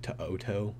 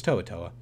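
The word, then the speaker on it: To'oTo'o: coming out of college I thought his name was like tooto or something but it's tooa it's spelled crazy like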